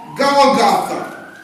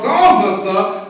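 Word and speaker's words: Golgotha: Well, in another passage, it says Goltha.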